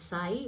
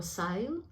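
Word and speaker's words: Saille: the willow is now the celtic pronunciation is say or sail sail now the celts did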